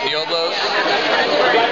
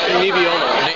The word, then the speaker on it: Nebbiolo: But I also had some pretty good, what is it, Nioblos? Nioblo? How do you say it? Nioblo? Nebbiolo.